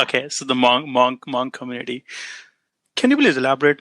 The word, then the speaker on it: Hmong: The H is silent, so Hmong. Okay, so the Hmong community.